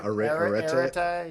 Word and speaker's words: arete: Yeah, arete. Yeah, I don't know how to say it either. It's Arete. My Greek pronunciation is not great. I just know I think of the country Eritrea when I heard it. That was the first thing I thought.